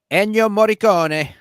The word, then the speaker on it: Ennio Morricone: Ennio Morricone.